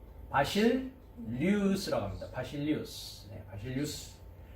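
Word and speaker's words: βασιλεύς: 멜레크를 왕이라고 하고, 헬라어로 가면 935번 뭐라고 발음합니까? 바실리우스라고 합니다.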